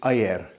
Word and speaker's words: ayer: Well, yesterday is ayer.